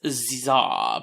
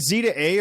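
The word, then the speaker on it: Z-A: to talk about characters is it Z to A or zah they haven't actually confirmed the pronunciation of the game I would just say Z z a without saying anything for the hyen Za is probably correct but I like the idea of Pokemon Legend zah pla yeah Plaza it's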